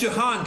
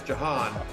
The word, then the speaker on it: Jahan: whatever he wanted yeah it's Johann Dyson just so you know I don't know what how they pronounce it in Australia but here in America it's Jahan the J is the stronger there than you pronounced it here I guess I should